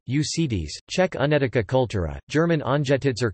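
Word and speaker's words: Únětice: The Unetice culture, Czech pronunciation, Unetice, Czech Unetica cultura, German Anjetitzer Kultur, Polish Kultura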